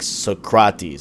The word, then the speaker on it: Socrates: how we've heard them like it's like suck rotties instead of like socrates you know like so